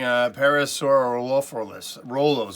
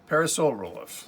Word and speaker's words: Parasaurolophus: This is one I'm still having difficulty pronouncing, Parasaurolophus. All I see is Parasaur and then Rolophus. Parasaurolophus.